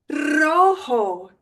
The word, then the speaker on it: rojo: Rojo, rojo, rojo. Probably should have mentioned this, but the J is kind of like an H. You wouldn't say rojo, it's rojo.